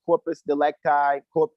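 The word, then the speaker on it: corpus delicti: somebody you created a corpus delect guy is actually how it's pronounced in the Latin purpose if you created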